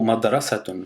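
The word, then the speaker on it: مدرسة: mot madrasaton signifie école pour le prononcer on va produire quatre sons on a mad après on a ra après sa après t du coup il y a quatre sons Mad RA sa t je répète encore lentement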